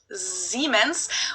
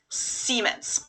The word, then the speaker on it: Siemens: a very minor difference germans pronounced it with a voiced s which would be a z in english siemens while english speakers pronounce it with a voiceless s siemens in english that's a